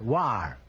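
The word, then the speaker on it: Loire: the correct answer is l o i r e pronounce War they tell me so that means the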